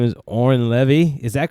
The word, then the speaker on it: Oren Levy: Brooklyn the exact Lin yes his name is Oren levy is that correct I pronounce the last name correct yeah tomatoes yes